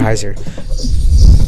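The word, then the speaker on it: Hersir: on that hairer Heiser I say ha sir because literally you're saying hair sir but people pronounce it Heiser tell Center of Spencer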